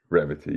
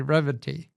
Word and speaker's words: Revati: His name is, he goes by, I asked him how to pronounce this, and then I messed it up. Revati. Revati, yes. Okay, Revati.